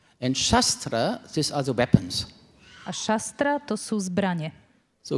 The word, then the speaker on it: Shastra: Shastra please. The pronunciation is very important. Shastra and not shastra.